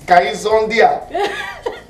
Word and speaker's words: Kazondia: The real pronunciation is Kaizondia. And husband and wife change it to Kazondia.